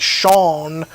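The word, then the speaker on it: Shang-Chi: shanghai i i call chiang chi but we're ignorant americans it's he says it in the movie it's like sean sean like sean of the dead kind of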